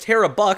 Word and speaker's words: Tara Buick: Quick update, Tara Buick is actually pronounced Tara Buck, so I apologize that I have been messing that up.